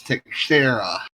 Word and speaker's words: Teixeira: My screen reader says Teixeira is how you say the name.